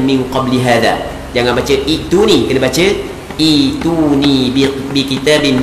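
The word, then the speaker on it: ائتوني: Cara baca ituni, dia dalam kaedah bahasa Arab, kalau hamzah lepas daripada hamzah mati, kita kena baca ituni.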